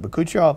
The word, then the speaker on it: bakuchiol: Yeah, Bakuchiol is a tongue twister, especially if you don't know. It took me a while to learn it. And actually, some people pronounce it a little differently, but Bakuchiol Plus.